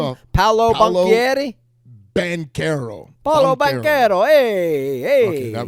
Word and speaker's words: Banchero: How you pronounce his name? Off, Paolo Banchero? Banchero.